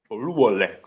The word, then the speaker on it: Oluwole: da Sofia o lolet o lolet seria o pronúncia correta do nome mas vamos falar o rolé mesmo a gente vai ter